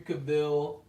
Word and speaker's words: Cavill: He's like, "It's Cavill, like travel."